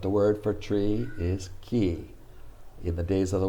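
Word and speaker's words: 木: the picture of a tree but when it's pronounced moku it means wood the word for tree is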